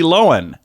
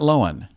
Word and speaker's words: Lohan: you want there Lindsay Lohan it's Lohan not lowen I've always said Gal